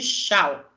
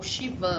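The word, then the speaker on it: Schwann: nervoso periférico são as células de xau é o shivan algumas pessoas pronunciam assim e é no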